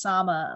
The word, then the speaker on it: Sama: and by the way it's pronounced sama like mama with an s oh lovely sama what